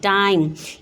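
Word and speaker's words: time: ट आई म टाइम। ई का साउंड इसमें साइलेंट है, ई की आवाज़ नहीं आ रही है।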